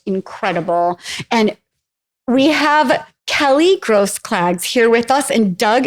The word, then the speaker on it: Grosklags: There's no, what about the K? It's you just don't It's say a it. silent It's a K. silent K.